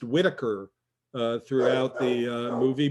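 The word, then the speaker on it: Whiteacre: thinking more of his last name which is pronounced whitaker uh throughout the uh movie but it's spelled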